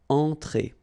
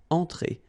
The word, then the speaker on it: entrée: Un apéritif, then une entrée, okay, remember, well, technically this final here is not pronounced, so phonetically it doesn't exist, so it's et, okay, entrée, remember, nasal here, entrée, une entrée, then un plat principal,